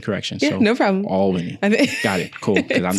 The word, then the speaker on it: Albany: Think about it being ALL. So just imagine if it was another one. Yeah. Appreciate the correction. Yeah, so no problem. Albany.